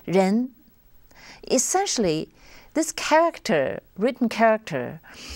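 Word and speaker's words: 仁: Pro proposed a Chinese confusion concept which is pronounced Ren essentially this character written character is made up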